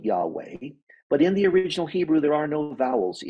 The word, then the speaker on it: Yahweh: HWH which we pronounce Yahweh they actually put additional vowels in there so they could have something pronounceable Yahweh but in the original